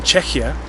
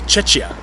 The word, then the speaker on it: Czechia: And one of the best explanations for that I've heard so far is that foreigners tend to mispronounce the word, and instead of saying Czechia, they say Czechia, which sounds dangerously close to Chechnya.